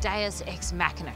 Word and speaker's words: Deus Ex Machina: today in Sydney we head to cam pronounced deus ex machina cafe and custom motorcycle workshop cultural pioneer in